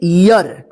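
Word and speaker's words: year: रखिएगा देखिए यहां पे ई ए आर देखिए य पे इसको पढ़ेंगे ईयर देखिए ईयर यर आया ना ईयर यर उच्चारण हो रहा है यहां पर ईर नहीं हुआ ईयर देखिए लास्ट में आर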